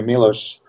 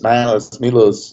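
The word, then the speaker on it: Miloš: Nobody calls me Milos. It's Milos, and stuff like that.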